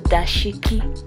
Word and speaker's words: dashiki: It's pronounced the dashiki and it's from Africa, and these are just loose fitting shirts or tunics.